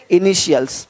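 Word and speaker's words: initials: बन रख देखो तो टी का ध्वनि श होता है देखो क्या बोलते हैं इनिशियल्स अब यहां पे टी आई है इनिशियल्स नहीं बोलते इनिशियल्स इनिशियल्स इनिशियल्स यानी इसी टी आई को जब टी के बाद आई ए हो आई ई हो आई ओ हो तो उसको श पढ़ते हैं श तो क्या पढ़ेंगे इनिशियल्स इनिशियल्स पढ़ पा रहे हैं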